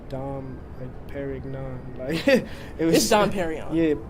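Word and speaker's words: Dom Pérignon: ] will repair you I used to think it was dawn perry on until I realized it was dom perignon is it was dawn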